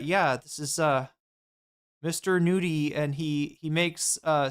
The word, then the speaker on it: Nudie: It does sound just like nudie like as if nude e.